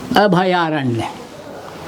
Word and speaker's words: अभयारण्य: शब्द तो है, सही शुद्ध जो शब्द है अभय, अरण्य, अभयारण्य, अभयारण्य। लेकिन उच्चारण गलत होने की वजह से बहुत सारे